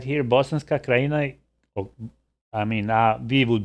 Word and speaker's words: Bosanska Krajina: Bosanska Krajina, oh, I mean, we would be pronouncing it as Bosanska Krajina.